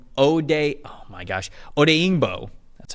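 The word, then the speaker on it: Odeyingbo: uh di o OD day oh my gosh odingo that's how you say it there you go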